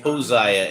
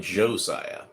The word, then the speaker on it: Josiah: well it's interesting that it's pronounced hosah instead of Josiah maybe right now though